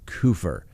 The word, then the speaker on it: Kupfer: of the name but the news organization that interviewed the family pronounced it coofer so i believe they